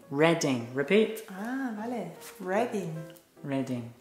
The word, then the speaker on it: Reading: No, not Reading, not Reading. It's pronounced Reading. Reading.